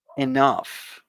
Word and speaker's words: enough: us start with the pronunciation of enough enough enough uh you see the the the term the last po portion of the word is like an f f sound so enough and enough